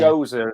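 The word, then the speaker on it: Gose: Gozer, as in Gozer the Gozer. Traveller from Ghostbusters.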